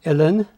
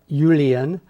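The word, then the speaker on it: uilleann: of your irish pipes yeah it's it's pronounced ellen it's spelled u-i-l-l e a n n so a lot of people think it's julian and i've even heard it pronounced alien which is hilarious some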